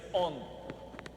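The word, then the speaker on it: ὁ ὤν: грецьке слово гоан Ого з придихом читається он ООН по-грецьки а по-українськи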